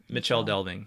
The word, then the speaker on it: Michel Delving: m i c l in Old English the letter C in these circumstances at least would normally be pronounced as modern cha so in ch so